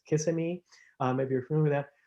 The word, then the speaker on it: Kissimmee: Just to give you an idea, around the Orlando area, and I think it's pronounced Kissimmee, maybe you're familiar with that, there are so many more sightings of wintering buntings there.